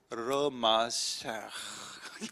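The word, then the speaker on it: מָשִׁיחַ: 마샤 발음이 내가 잘 안 되는데 좀 더 정확하게 하면 마샤 이런 단어입니다.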